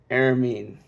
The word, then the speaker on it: Aramean: sister of Laban, the Aramean. Oh my gosh. Part of me wants to say Armenian, but I know that's not how that is supposed to be pronounced. Aramean.